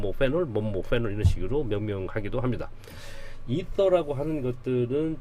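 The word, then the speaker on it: ether: 붙어 있을 경우 이것을 이터라고 합니다. 이터. 옛날에는 우리 에테르 했는데 에테르 하지 말고 이터, 그걸 발음 에터라고도 쓰면 되죠.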